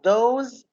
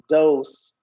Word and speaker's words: dose: me the word those I used to say those with the z sound it is an amount of medicine that the doctor prescribed but in fact I discovered that it is pronouncing dose those okay what else what surprised you guess